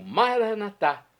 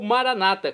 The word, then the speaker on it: Maranata: E agora eu clamo, Maranatá, como dizemos nós católicos, ou Maranata, como dizem nossos irmãos separados, os evangélicos ou protestantes. Não importa, a pronúncia e o significado é o mesmo.